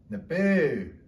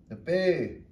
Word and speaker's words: nape: her face, she said nape, and then you get the right sound. By putting your lips tight against your teeth, nape.